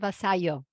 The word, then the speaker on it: Vasallo: part two with Tanya but this time Tanya basalo is it basalo or is it basayo baso in Spain in Italy it's Vaso it